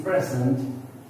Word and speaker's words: present: See, here this present is used as noun, so I stressed on first syllable present.